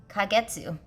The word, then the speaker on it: kagetsu: But kagetsu, that's how you pronounce it.